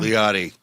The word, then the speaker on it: Liotti: how do you say your last name leotti leotti leotti he's a man's man